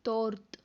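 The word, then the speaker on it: торт: Then last D எப்படி pronounce பண்ணணும்? இத் இத் இத். தென் 4 லெட்டரையும் சேர்த்து சொன்னால் தோர்த் தோர்த் தோர்த்.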